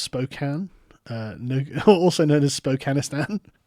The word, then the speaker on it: Spokane: it that way hi song from Spokane it's pronounced Spokane no also known as Spokane is that is